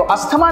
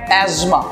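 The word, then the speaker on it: asthma: तो इसका जो करेक्ट प्रोनाउंसिएशन है, जो अभी तक आप लोगों ने सुना होगा लोगों के मुंह से, अस्थमा, राइट? तो अस्थमा नहीं होता है, ये है एज्मा.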